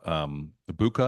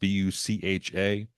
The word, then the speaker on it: Bucha: This is her reaction to atrocities committed on Ukrainians by Russian soldiers in the city of Bucha, I think is how it's pronounced, Bucha, in 2022.